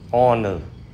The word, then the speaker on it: honor: Vì hát câm nên cái âm đầu của những chữ này là O. Và vì O là nguyên âm nên chúng ta phải dùng mạo từ ân trước những chữ này nha các bạn.